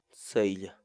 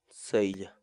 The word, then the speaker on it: saylla: de vídeos en la que te enseñamos a pronunciar algunas palabras en quechua así que nuestra palabra del día por hoy es sella sella sella la palabra quechua en español significa planta forrajera